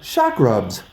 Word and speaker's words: Chakrubs: we are sitting with the founder creator of Shak rubs which if you look into it a little bit it's spelled c h a k r UBS and